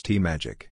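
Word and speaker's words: TMAGAC: to by its acronym nagak which RNC officials pronounce t-magic magac was focused on raising money online through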